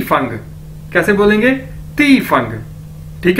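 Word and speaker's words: 地方: अब दोस्तों हमारे पास नेक्स्ट वर्ड है Chinese D आई एफ ए एन जी, डी को हमें पता है हम ते से प्रोनाउंस करते हैं, तो क्या बन जाएगा, ती फंग, ती फंग यानी प्लेस,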